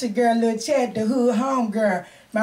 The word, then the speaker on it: La Chat: everybody it's all just i guess the lah just kind of part of my talent but it's still pronounced little chat you know what i'm